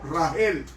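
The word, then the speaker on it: רחל: Y fue el que le dio su esposa Raquel, que se pronuncia en hebreo Rahel.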